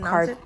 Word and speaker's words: Carpe: So I think Carpe. It's actually pronounced Carpe.